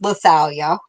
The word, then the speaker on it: Lethalia: And it's in case you since we are just meeting, The really weird name is pronounced Lethalia.